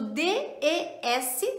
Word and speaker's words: des: Temos o DES, se escreve DES, mas se pronuncia mais aberto.